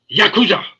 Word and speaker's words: Yakuza: arts and the Dennis, you're not saying it right. It's Yakuza. It's the Yakuza.